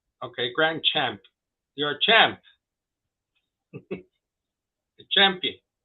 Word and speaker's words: Grandchampt: Grandchampt. Yes, the T is silent. Okay, Grandchampt.